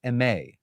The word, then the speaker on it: Aimée: i pronounce it correctly we're actually the correct pronunciation is may correct this is true okay so folks it's